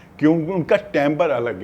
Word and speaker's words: timbre: इस वर्ड को हम प्रोनाउंस करते हैं टेम्बर, ऐसे लिखते हैं TIMBRE, टेम्बर।